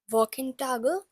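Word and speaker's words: Wochentag: first lesson firstly we'll learn the walk T walk in tag means weekday let's say it once again walk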